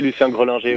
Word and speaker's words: Lucien Grelinger: Alors, malheureusement, votre stade Lucien Grelinger, c'est comme ça qu'on prononce ? Oui, Lucien Grelinger.